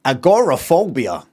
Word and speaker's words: agoraphobia: Um, and then I don't know the last 10 years I'd hear some Americans say agorophobia like agorophobia is not just agrophobia.